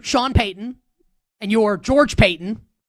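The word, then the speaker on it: Paton: Payeyton and you're George Payton, not related, last name's not spelled the same, but pronounced the same, and you're the Denver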